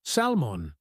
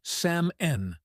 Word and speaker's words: salmon: If you only read it, you might say salmon. But if you hear it, you'll know the correct way is Sam Nen. The L is silent.